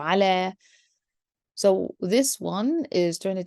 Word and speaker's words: على: with no dots, and it would be pronounced as if we have alif. So ala.